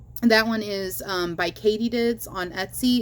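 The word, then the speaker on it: Kaytedids: recommend that one that one is um by Katydids on Etsy it's spelled k-a-y-t-e-d-i-d-s and I will put this in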